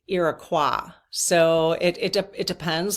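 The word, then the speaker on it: Iroquois: But I will call them um Iraqua because that is the French French pronunciation. Irakqua.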